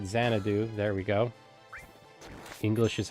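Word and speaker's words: Xanadu: sure if I can commit to it yet xand do or I probably pronouncing that game right zanadu there we go English is hard for me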